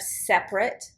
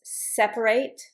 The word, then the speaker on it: separate: Please notice when I pronounced the middle syllable and when I didn't pronounce the middle syllable. So here, separation, I pronounce it. Separate, the verb, separate. The adjective, separate. This one, I only pronounce separate. I don't pronounce the A. I pronounce the A in the noun. I pronounce it in the verb.